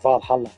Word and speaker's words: VA-11 HALL-A: The name sounds silly and a bit hard to pronounce. Good thing it's actually pronounced Valhalla. Funny numbers and letters are just a code.